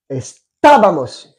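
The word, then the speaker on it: estábamos: quand tu le prononces estabamos il y a un accent sur le premier a stabamos BL attention il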